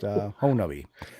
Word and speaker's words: Honobia: So now, the siege of Honabi, as they call it, the siege of Honabi, it looks like Honobia, but it's actually pronounced Honabi. I did have a chance to speak to, via chat, the actual main guy in that.